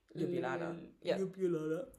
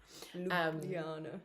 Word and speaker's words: Ljubljana: to fly there than it was into Ljubljana lulana you do it better than I do.